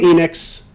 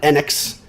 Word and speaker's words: Enix: square enix square enix i am calling it enix they were calling nx i don't know anybody that's ever called it square nx when they started pronouncing